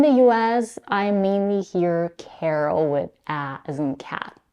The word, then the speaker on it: Carol: it's a female name Carl has only one syllable Carol has two syllables the vowel in the